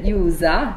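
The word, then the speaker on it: 유자: La mia pronuncia è Yusa, corretto? Sì, giusto, okay. Giusto, bravo.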